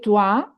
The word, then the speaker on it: toi: maintenant, et tu Et just toi, et toi, when you see OE, it's always OA, the pronunciation. So, et toi, et toi, tu just respond.